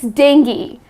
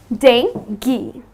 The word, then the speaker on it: dengue: The correct pronunciation is 'Den-gee' So it's Den-gee .